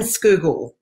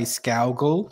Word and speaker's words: Scougal: today i have a guest um in schoogle have i pronounced that correctly you you've done amazingly well there it's normally people say scowgle or skrugel even they add an r well that's there's